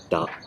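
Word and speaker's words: да: 然后其次呢，就是 yes 是的这个词叫做 da，这个就很简单 da，是吧？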